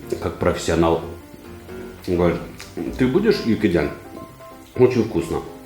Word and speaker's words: 육개장: Я ему говорю, правильно говорить, юкиджан.